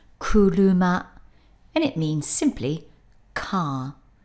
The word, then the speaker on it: 車: when that character stands on its own it's pronounced crew luma and it means simply car let's have a